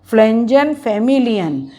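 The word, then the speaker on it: Pflanzenfamilien: ठीक है, मतलब पी चाहे मत बोलो, फ्लेंजन बोल दो, पी इसमें साइलेंट है, फ्लेंजन फैमिलियन, पर लर्न करने के लिए प्लिफेंजन ये बोलना पड़ेगा।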